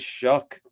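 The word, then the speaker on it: Shough: Now, looking ahead, New Orleans Saints rookie quarterback Tyler Shuck is Shuck even though it looks like Shaw.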